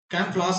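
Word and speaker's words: camouflage: तो कैम फ्लास को कैसे बोलेंगे, कैम फ्लास ये प्रोनाउंसिएशन होता है, लेकिन हम इसको पढ़ते हैं कमाऊ फ्लेज।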